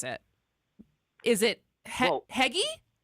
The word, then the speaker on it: hygge: All right, so I'm gonna do my best to pronounce it. Is it Heggy? Hygge. Hygge.